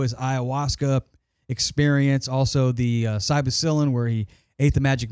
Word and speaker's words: psilocybin: on the show, his ayahuasca experience, also the psilocybin where he ate the magic mushrooms on the beach. Psilocybin. Psilocybin. How do you say it? Psilocybin. Yeah, how do you say Psilocybin. Psilocybin. Cybacillin.